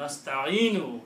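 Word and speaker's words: نستعين: If you stop, you will not pronounce this wa, noon, dhamma on the noon. You will say nasta'in.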